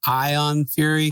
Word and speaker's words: Ion Fury: I will say that it's called Ion Fury. Oh, Ion. What was I saying? The way you were saying it, it sounded like you were mispronouncing iron.